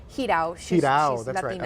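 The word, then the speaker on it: Jirau: So forgive me if I mispronounce the name here, Sophia Giroux? Hidao.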